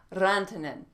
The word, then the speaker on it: Rantanen: this one's another international one this is marcus rantanen and i probably didn't say it right so